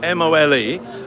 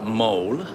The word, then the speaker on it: Mole: is going on about the mole spell m-o-l-e but not pronounced mole m-o-l-a mole mole so this I think